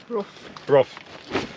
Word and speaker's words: Brough: Brough.